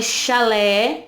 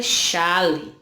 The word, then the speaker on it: chalé: Um é chalé e o outro é chale. Percebam que não tem a mesma pronúncia, não é verdade?